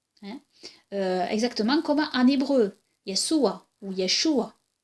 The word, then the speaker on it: Yeshua: Hein, exactement comme en hébreu, Yeshua ou Yeshua. Et le aïn final, comme je l'ai dit, est guttural, donc est un son difficile à prononcer.